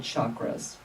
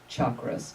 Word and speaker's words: chakras: And this energy network has these energy centers called chakras. Chakras. Chakras or chakras. They're pronounced different ways.